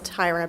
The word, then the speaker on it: Tyra: is up next good evening my name is Tyra yes it looks like Terra but it's pronounced Tyra I've been born and